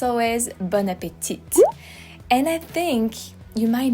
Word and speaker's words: bon appétit: So just drop the T at the end and you'll sound much more French.